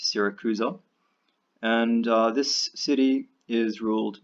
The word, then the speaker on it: Syracuse: an important city called Sarah Cruz oh that's sy RAC us e pronounced Sarah Cruz oh and this city is